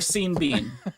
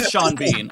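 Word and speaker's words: Sean Bean: You can have Shawn Bon or seen Bean. You don't get to have Shawn Bean.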